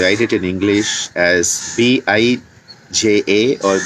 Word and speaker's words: bija: it in english as b i j a or b e e j a because when you write it as b e e j a you get the pronunciation better it is it's not